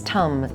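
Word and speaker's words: tam: Her seed syllable is tum spelled t a m.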